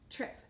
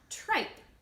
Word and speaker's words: trip: Trip. Remember, it's not tripe. I is saying it because there's no silent E at the end.